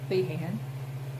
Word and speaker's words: Feehan: Another one of my favorite authors is Christine Feehan. It could be pronounced Feehan.